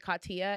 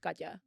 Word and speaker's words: Kya: pronounce their name but I know my name is supposed to be pronounced gaja yeah people call me